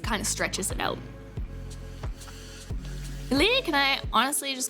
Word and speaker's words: LiLi: I just use Lily, which is just like L-E-E, like Lily.